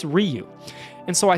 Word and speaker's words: Ryu: correctly the name I believe in Japanese is Ryu and he was supposed to say Ryu in the film but he kept pronouncing it rayu and so the director at one point was